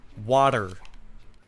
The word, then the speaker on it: water: Por ejemplo, la palabra de agua se pronuncia como water, con la R débil, no de una T, porque normalmente la gente no se pronuncia la T normalmente.